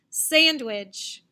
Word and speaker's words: sandwich: Here's the first word, sandwich. Sandwich. Yep, first syllable, sand, is louder, longer, and higher than which?